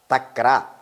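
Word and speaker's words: तक्र: But here, if you say Vakra, Rafa is there, Ra, Takra, buttermilk, something like Vakra is zigzag. There, Ra is there, you have to pronounce with stress, Takra.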